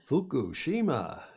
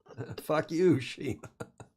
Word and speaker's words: Fukushima: Fukushima. You got to be careful. Fuck you, Shima. I said it. Shame on you. I know, shame on me. But that is the Fukushima Daiichi. Fukushima Daiichi nuclear power plant.